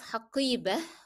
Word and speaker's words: حقيبة: Number 2, why do I pronounce حقيبة with he at the end, though it is ending in ta' marbuta? Because I'm stopping on it. And we said that ta' marbuta has two ways of pronunciation, either to say it with ta or to say t, or to say it as h.